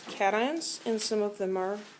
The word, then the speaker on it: cation: And this is cat, ion, not cation.